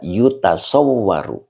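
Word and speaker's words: يُتَصَوَّرُ: Ini membutuhkan naibul fa'il ya, karena ini dibacanya adalah fi'il mudhari majhul. Ya, dibaca yutasawwaru. Yutasawwaru. Ya, fi'il mudhari majhul itu diawali dengan dhammah. Ya, dan ain fi'ilnya adalah fathah. Yutasawwaru.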